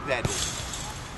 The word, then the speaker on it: Wedding: In German, pronounced Wedding.